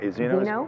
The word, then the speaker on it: Zeno: So I understand Zeno and, am I saying it right? Zeno is correct.